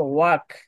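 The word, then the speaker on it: walk: ওয়াক এল এর sound কোথায় গেল?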